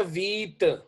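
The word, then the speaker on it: huit: का क्या है सेवन है जी सेत पी साइलेंट है सेत एट है वीत जी सर सिक्स सीसर फाइ फाइव है सक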